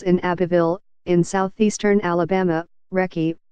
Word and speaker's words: Recy: Abbeville in southeastern Alabama recce pronounced Ricci Corbett found herself caring